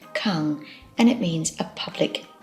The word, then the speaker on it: 館: drawing finally we have the character which is pronounced kang and it means a public building now there